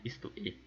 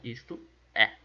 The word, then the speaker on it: isto é: A gente não fala isto e. A gente fala isto é e não isto e.